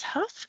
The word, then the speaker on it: Hough: thing and just say Huff that's fine even though it's h o u g it's pronounced like I'll huff and I'll puff and I'll blow your house down that's what I tell